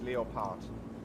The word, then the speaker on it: Leopard: in writing it's just it's written exactly the same as in English it's just the pronunciation that's different oh so is it Leo Bart it is Leo part and it's just that